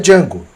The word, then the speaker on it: Django: se pronuncia e aí o Django pronuncia o nome dele d j a n d o e ele ainda fala o d é mudo e o Senhor ele